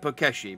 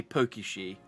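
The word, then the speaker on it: Pokéshi: pakeshi doll oh and i'm pronouncing it pakeshi but it's obviously pokey she doll was to get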